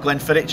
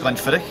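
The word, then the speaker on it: Glenfiddich: to pronounce Glennfiidich properly, you can start by remembering the Loch Ness Monster. Yeah. So it's not Glennfiidich, it's Glennfiidich. Okay. Just an old Scots Gaelic pronunciation there.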